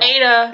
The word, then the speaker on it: Ada: Ada. It's pronounced Ada.